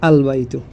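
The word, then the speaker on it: البيت: উচ্চারণ হলো বাইতুন শব্দটি বাইতুন শব্দের শুরুতে যখন আমরা আল যুক্ত করব তখন উচ্চারণ হবে আল বাইতু তার মানে লাম অক্ষরটি স্পষ্টভাবে উচ্চারিত হচ্ছে জিদারুন শব্দের শুরুতে যদি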